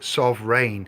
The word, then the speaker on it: sovreign: It's the same as sovereign, but it's a play on words, so phonetically, it doesn't sound the same as sovereign, does it? Sovreign.